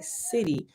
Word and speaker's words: Siddhi: city right s i d d h i city um but they did it the way they